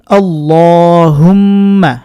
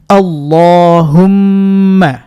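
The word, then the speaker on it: اللَّهُمَّ: পড়ার চেষ্টা করবেন আল্লাহুম্মা আল্লাহুম্মা বলা যাবে না অনেক জায়গায় বাংলা উচ্চারণ লেখা আছে ওগুলো দেখে পড়লে কিন্তু হবে না ওখানে মোটা বা পাতলা বাংলা দেখে কিন্তু বোঝা যায় না আবারো বলছি আল্লাহুম্মা মিমে গুন্না করতে হবে আল্লাহুম্মা বারিক লানা বাতে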